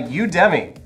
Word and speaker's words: Udemy: our show guys this episode was sponsored by udemy that's how you say it good it's the